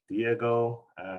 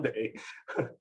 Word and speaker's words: Dai: Okay, it's a Chinese name, and the last name is Dai. In China, we pronounce it as Day, but here people don't know how to pronounce it. Sometimes they say die, but in English, die is the word very close to the death, the die.